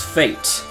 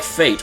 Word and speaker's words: Fayt: time my name is fate hey it's like fate only it's misspelled I have the misspelled